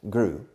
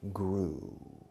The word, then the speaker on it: grew: case is two things the pronunciation of the past grew because many people in spain many of you say no gru second many of you